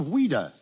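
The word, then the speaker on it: Ouida: french but english but why did she use the pen name of weeda because as a child that was the way she pronounced louise she was a strange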